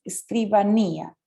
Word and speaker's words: escribanía: sería el escritorio ok hay una regla que dice que todas las palabras que terminan con ella si tienen el acento en la y aunque yo diría que como siempre hay algunas excepciones pero si tenemos escribanía con el acento en line muy bien la cuchi